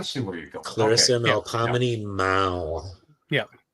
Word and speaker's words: Melpomene: Clarissa Melpomene Mao. Yeah. How do you pronounce that middle name again? Melpomene.